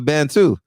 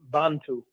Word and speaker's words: Bantu: if i mispronounced the band too you should have heard you should have heard south africa a is not a band it's bantu bantu but i said south